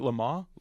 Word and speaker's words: Le Mans: Lamaze? Lamaze, yes. Lamaze, okay. I've watched it forever and don't actually know how to pronounce it.